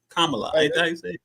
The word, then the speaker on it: Kamala: I didn't learned how to say her name Kamala yeah yeah I said a few ways it's been no disrespect y'all know I'm a little special but kamla how do y'all feel about her are you